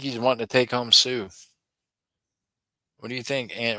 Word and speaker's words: Sioux: I know it's not Sue. It's like Sunek, right, or something. I don't know. Oh, you pronounce it like Sue.